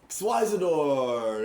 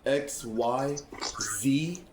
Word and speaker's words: Xyzidor: hard for me to pronounce, sorry. It's okay. It's Xyzidor, that's right.